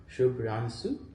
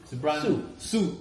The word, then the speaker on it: Subhranshu: Oh, Subhranshu. Not Shu. Subhranshu. Su.